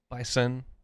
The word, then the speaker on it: bison: way I think Bisons bison I don't think that's one you and I think actually because the game days had him a couple times you actually supposed to say it like a Zee bison Oh hmm yeah that's